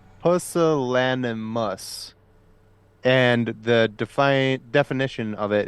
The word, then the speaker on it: pusillanimous: By the way, just to touch back a little bit here, it is pronounced pusillanimous, and the definition of it is showing a lack of courage or determination.